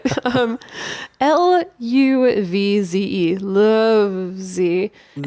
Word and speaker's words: Luvze: Lovesy.